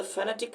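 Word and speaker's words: phonetic: ए टी आई सी बहुत लोग इसको फोनेटिक बोलते हैं लेकिन दोस्तों ये गलत है इसको बोला जाता है फेनेटिक फैंटास्टिक का मतलब होता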